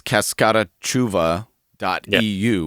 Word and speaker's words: CascataChuva: And for those who want to follow along, the website, it's a bit English pronunciation. You would say it's CascataChuva.eu, which is CascataChuva.eu, but we've learned in Portuguese it's CascataChuva.